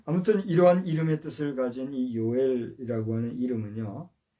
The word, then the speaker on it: 요엘: 얘기하기는 제가 어렵고 여러분들이 영어로는 조엘 이렇게 발음을 하죠 조이라고 하는데 우리 발음으로는 이렇게 해요이 요엘 선지자를 통해서 역사 속에서의